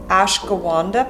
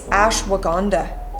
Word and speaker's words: ashwagandha: to pronounce this so i was calling it ash gawanda powder it's not that it's ashwagandha powder and this is really